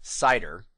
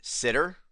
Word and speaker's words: CIDR: say the letters because I pronounce This Acronym cider but many people pronounce it sitter and I've even seen it pronounced as Cedar cider sitter Cedar don't